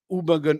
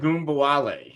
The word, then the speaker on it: Ogunbowale: They still got Dare Ubagun. I can never pronounce Dare that. Ogunbowale.